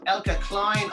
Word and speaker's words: Eelke Kleijn: Ladies and gentlemen, I'd like to welcome Eelke Kleijn. I hope I am pronouncing your name correctly.